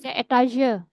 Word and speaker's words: Etage: 'Jadi', kata ini juga digunakan dalam bahasa Jerman, artinya lantai, 'Stock', tetapi pengucapannya dalam bahasa Prancis, 'etage', Anda akan sering menjumpai kata 'floor', ' dritten Etage', 'zweiten Etage'.